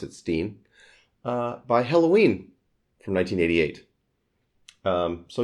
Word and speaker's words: Stein: Stein, they pronounce it Stein, by Helloween from 1988.